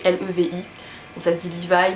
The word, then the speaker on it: Levi: Et parmi cet animé japonais, il y a un personnage qui s'appelle Levi, enfin Levi, ça s'écrit L-E-V-I.